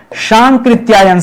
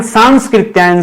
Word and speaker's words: सांकृत्यायन: ये केवल स एक ही बार आता है। दो बार नहीं आता है। हम लोग हम लोग उच्चारण ही गलत करते हैं। राहुल सांस्कृत्यायन सांस्कृत्यायन गलत शब्द है। सांस्कृत्यायन शब्द नहीं है। सांकृत्यायन क्या है? सांकृत्यायन बोलिए। पांच छह बार बोलिए और आगे से याद रखिएगा